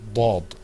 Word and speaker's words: ض: Now, let's move on to the next letter, which you're going to see, inshallah, coming up on your screen, the dad. Okay, let's pronounce that letter together, too.